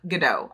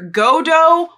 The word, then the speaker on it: Godot: be meeting today who we're going to go with the pronunciation of Godot, I feel like. The two most popular options in my comments were Godot or Godot. Godot just feels better to me.